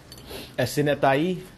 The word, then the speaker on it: Esenetai: Esenetai. Esenetai. That's how you pronounce the name.